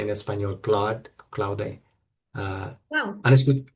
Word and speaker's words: Claude: Ahora ¿cómo lo pronuncia en español? Claude. ah, Wow. Cloud, ok.